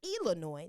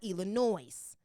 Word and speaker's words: Illinois: Do not say Illinois. The S is silent, okay? Oh my goodness. Illinois is pronounced Illinois, not Illinois. Illinois is pronounced Illinois, not Illinois. The S is silent in Illinois.